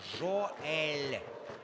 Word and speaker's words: Жоэль: И вот сейчас Жоэль правильно, вот некоторые меня спрашивают, как правильно говорить. Скажу вам, что верно, Жоэль.